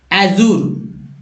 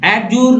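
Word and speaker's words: adjure: जाहिर सी बात है गलत उच्चारण करेंगे अजूर अजूर एड जूर नहीं एडज नहीं अजूर अजूर का अर्थ है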